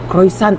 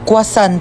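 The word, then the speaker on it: croissant: Croisant daw. Croisant. Ah quasan po. Croisant. Kwasan.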